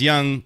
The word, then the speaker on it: Yonge Street: cuz it's funny to say that so it's young young traits but young street yiou ng this